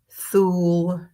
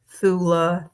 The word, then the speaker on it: Thule: Again, there are various ways to pronounce this place: Thule, Thula, Thyle, um, Thelia, Tile, Tilla, Tilla, Tile, or Thailand.